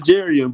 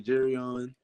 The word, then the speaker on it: Jerrion: Your name is pronounced. It's Jerrion, but to be quite frankly honest with you, my friends back home say Jerrion, and then even some friends of mine call me Jerrion.